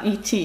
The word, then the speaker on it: E.T.: По-английски это E.T., и она его произносит на английский манер. Да, E.T.